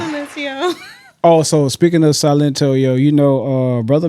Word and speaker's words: Silento: What the His name is Silento. Not Sencio.